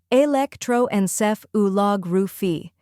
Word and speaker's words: electroencephalography: The correct pronunciation is electroencephalography. Start with electro, just like electric but shorter. Next, enceph. Think N, then ceph, and a soft Finally, lography. Emphasize log and end softly with ruphy. Altogether, it's electroencephalography.